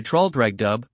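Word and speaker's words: Traldragdubh: It contained a warrant for conducting me and my retinue to troll dragdub or trill dragd for it is pronounced both ways as near as I can remember by a party of 10 horse.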